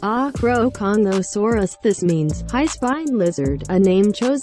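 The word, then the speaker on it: Acrocanthosaurus: its physical description is locked within its name pronounced acroconuosaurus this means high spine lizard a name chosen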